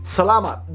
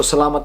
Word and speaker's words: Salamat: Salamat. Just because it says M-A-T, don't pronounce it as salamat. No, if you want authenticity, salamat. You don't say apple, you say apple, but in this sense, mat.